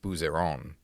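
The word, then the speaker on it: Bouzeron: bottle of aligote, you want to travel to Buseron. Oh, that's correct. Well done. And I pronounced it right.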